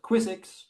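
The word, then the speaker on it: QuiZX: So if you really need speed, we also have this thing called Quizzix, which is quick ZX, which is written in Rust.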